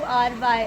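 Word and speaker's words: wry: the day is R spelling is three words w r y and pronunciation is Ry the only Ry and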